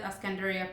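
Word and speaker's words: الإسكندرية: a city called Alexandria, but they call it Ascandaria for people who live there. Not sure why that name is Ascandaria when the spelling is spelled Alexandria.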